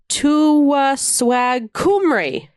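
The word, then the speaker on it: Tywysog Cymru: Pronounced Tywyswag Cymru. Tywyswag Cymru.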